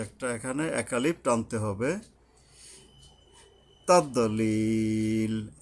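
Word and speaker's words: تَضْلِيل: তাদলিল, এই দদ উচ্চারণে মাখরাজ মেনে উচ্চারণ করতে হবে। তাদলিল, এই ইয়ার উপরে 3 আলিফ টানতে হবে।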